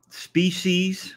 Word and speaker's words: species: word species versus species now there is no word such as species um species with the S is the plural and the singular word so you can't say species that is not a word and it drives me crazy when I hear the word species yes I know I'm not you know everybody said just relax relax but I can't when it comes to species it is species not species so remember